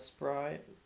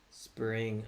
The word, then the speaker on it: SPRYNG: How do you pronounce that? Sparring? I don't know. Appreciate it. Have a good week too, man. RVSN actually popping back up again. I'm gonna activate standing desk mode. Spring.